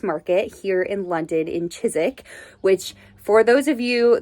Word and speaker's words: Chiswick: So Chiswick is spelled like Chiswick, but it said Chiswick, and I always get laughed at. Suffolk is another one. It's like Suffolk, but then it's Suffolk.